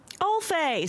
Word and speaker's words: Alf: Alf.